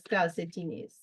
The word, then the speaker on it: calcetines: Socks, los calcetines. Accent on the I in calcetines, right?